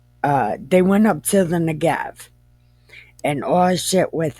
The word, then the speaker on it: Negev: this is spelled changes, and people call it the Negev, but it's Negev.